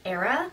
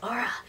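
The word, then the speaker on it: Aria: most of the time her name's like spelled like a-r-i-a so I called her like era for most of the time and then I was like oh wait it's Aura and yeah so I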